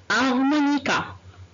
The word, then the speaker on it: harmonica: On va travailler le son H, ou bien la lettre H, mais ici, on ne va pas prononcer le H et on dit harmonica.